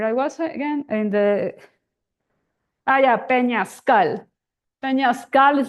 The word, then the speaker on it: peñascal: So, or I was again in the peñascal. Peñascal is like a big stone or a big path or a big narrow trail with stones around. It's called peñascal with stress at the end.